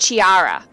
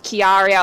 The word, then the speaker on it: Chiara: in my head, and I think her name is actually pronounced Chiara. I think it's Chiara instead of Chiara or Chiara, whatever I pronounced previously.